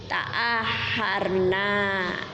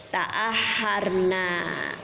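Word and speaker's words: تأخرنا: Ya kita tambah nun di depan ra-nya itu, tetapi baru dikasih alif sehingga bacanya panjang. Nah, maka bunyinya begini, ta'aharna, ya, ta'aharna.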